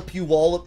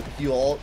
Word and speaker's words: Puyallup: Like, out here, we have the Puyallup Fair going on right now.